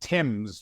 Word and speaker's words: Thames: So Instagram at, the middle initial L, and then Thames, which in Australia we would pronounce it Thames, like the River Thames in London, Thames.